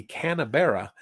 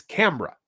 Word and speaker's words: Canberra: But if you live in Australia, it's Canberra. Now, how they got Canberra out of Canberra, I have no idea. There's not even an M in the spelling of it, but they made an M in there somehow.